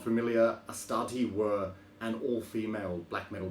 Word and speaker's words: Astarte: So Astarte being the Greek god, I think that's how you pronounce it, because you say things like Hecate, Ariadne.